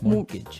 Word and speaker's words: mortgage: with a t yeah it has a t in it but you don't pronounce it you say mortgage mortgage so not mort mortgage